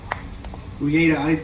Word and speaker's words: Rieta: Reata. R-E-A-T-A in Spanish means rope. Reata. But it's pronounced for you, it's rieta, right?